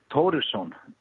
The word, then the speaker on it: Thorisson: How do you pronounce your last name? Thoresen. Like Thoresen. Thoresen. Okay. But actually, I pronounce, in English we say Thoresen, in Icelandic we say Thoresen.